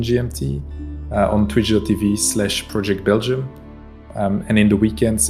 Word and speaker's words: PROject_Belgium: casters might use this how do you say the other way that people say your name yeah so either it's project belgium or it's all right i'll make